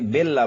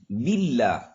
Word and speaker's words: باللہ: بہت سارے ہمارے بھائی بیلا پڑھتے ہیں، بیلا ہی، حالانکہ با کے نیچے زیر ہے، مجہول طریقے سے نہیں، قرآن کو عربی لہجے میں پڑھنا ہے. باللہ، اعوذ باللہ، باللہ پڑھتے